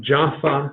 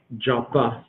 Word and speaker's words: Jaffa: With a dot in the middle of it, it's pronounced like a P. Without a dot, it's pronounced like an F. So you find it both ways. But Jaffa in the Old Testament,